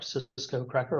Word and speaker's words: Sisqocracker: It's listed under Cisco Cracker, but it's spelled S-I-S-Q-O-C-R-A-C-K-E-R, Cisco Cracker, all together one word.